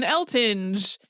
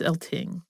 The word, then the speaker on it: Eltinge: eltone and right like that's not how you say that I mean I I want to say elton's just reading it because there's an e on the end right but no so for today it's elting and Julian L Ting